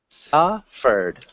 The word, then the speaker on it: suffered: Suffered. Suffered. Suffer. Yeah, suffered. One more time? Suffer. Yeah, make sure you get that D sound at the end.